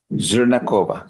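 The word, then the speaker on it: Zhernakova: Zernova. I believe that's how you pronounce it. Good morning, ma'am. How do you pronounce your last name? Zerakova. Zernakova.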